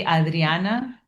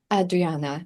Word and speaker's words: Adriana: I mean, if you want to say like real Spanish, it would be Adriana. Adriana.